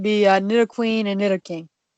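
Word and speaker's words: Nidoking: Pokemon that would be a new queen and knitter King right crystal same way the right same way the thing is whenever I was younger I used to say Knight o king and night o Queen now just hear me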